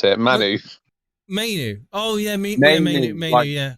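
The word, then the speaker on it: Mainoo: You pronounce it, Manu. Mainu.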